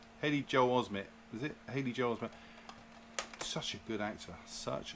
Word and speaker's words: Haley Joel Osment: I can never pronounce his name. Haley Joel Osment, is it? Haley Joel Osment.